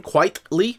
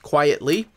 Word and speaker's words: Quitely: So Grant Morrison and Frank Quitely, I believe is how you say his name, Quitely, not quietly, but they take over the pages of Adjectiveless X-Men.